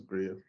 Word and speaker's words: Griot: for our listeners um so it's Grill Studios or griots great or grill the original pronunciation is great um so yes my